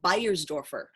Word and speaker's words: Bayersdorfer: try bastrover yes however if you were from germany or that region my understanding it would be buyer's dwarfer so what do your